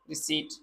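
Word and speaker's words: receipt: रिसीट में हमारे पास यहाँ पी साइलेंट है, रिसीट।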